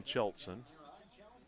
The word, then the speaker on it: Kjeltsen: 3-0 is the count now on Cheltson. I have to look at his name because you see how it's spelled? It looks like Kjeltsen. But the K is silent.